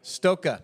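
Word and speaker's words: Stokke: yeah it's it's amazing so stoka this is pronounced by the way if you're wondering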